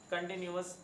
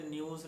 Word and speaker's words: continuous: कंटिन्यूस news पढ़ना है, इसे न्यूज़ नहीं पढ़ना बेटा।